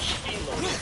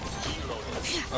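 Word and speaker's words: Xilonen: The X in English is pronounced either Z or X. Zelonian. Not Spelonin, it's Zelonin.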